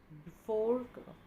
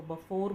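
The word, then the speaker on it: before: बिफोर का opposite है after. वैसे इसको बफोर बोलते हैं लेकिन हम इंडिया में इसको बिफोर ही प्रोनाउंस करते हैं, बट एग्जैक्ट प्रोनाउंसिएशन इज़ बफोर।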